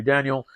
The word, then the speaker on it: Daniel: by none other than Tony Danielle uh if I pronounce that Spanish name correctly yeah it's Tony Daniel look at that look